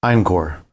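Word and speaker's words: Einqor: just Krell or their last name inor yeah spell that for us Johnny e i n q o r incore just wanted to know for paperwork reasons we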